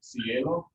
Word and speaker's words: cielo: I'll take another word I just put up there, cielo. Is it C? E or lo that gets the accent?